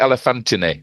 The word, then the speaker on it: Elephantine: of like elephanttine elephan they call it elephantine is how it's pronounced okay elephan I'm a